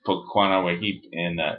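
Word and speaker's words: Potsanaquahip: Poquanawahip was how you pronounce it in Comanche.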